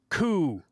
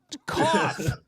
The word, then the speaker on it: cough: Through is pronounced through. Through? All right, fine. Then he developed a hacking coup. Cough.